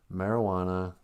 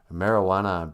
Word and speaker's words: marijuana: The stories that in the old days it was called marijuana because they said, oh, that sounds kind of like a Spanish word. We'll spell it with a J, but don't, pronounce it.